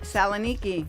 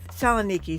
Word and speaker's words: Saloniki: Saloniki. Saloniki, thank you.